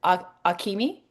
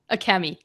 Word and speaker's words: Akemi: So is it Akimi? Akemi.